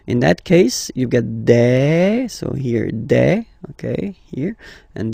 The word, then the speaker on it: des: Okay, and then the plural form, des. All right, here a S, you pronounce it like a.